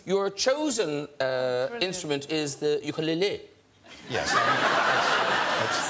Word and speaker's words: ukulele: It, because your chosen instrument is the ukulele. Yes. Since when is it called ukulele? That's how it's actually pronounced.